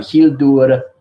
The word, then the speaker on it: Hildur: her name is um she's icelandic it's um hildur that's how you pronounce her name not was she is a